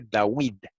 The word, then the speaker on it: Dawid: Sahue, con U, y el nombre de David se pronunciaba antiguamente Dawid, con U.